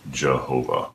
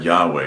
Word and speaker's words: Yahweh: You see, Jehovah is just pronouncing the consonants of Yahweh with the vowels of Adonai and still replacing the name God chose. We know that Yahweh is the way that